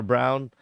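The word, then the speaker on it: Braun: So Christian Brown is good, or Brown, is how it's pronounced.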